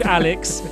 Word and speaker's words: Alyx: where she's gone but she's here she's called Alex it's spelled a-l-y-x she's named after a character in